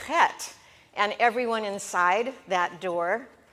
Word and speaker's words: het: so let's pronounce the het and it's that scratchy feeling in the back of your throat pet if it's not